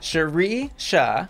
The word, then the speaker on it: Sheri-Sha: She gets the character of Cherie Sha, the Sha is silent, Coleman.